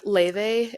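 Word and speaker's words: Laufey: So Keith's on duty and it's Ley. It is spelled Lafy but it's like pronounced Ley because she's Icelandic.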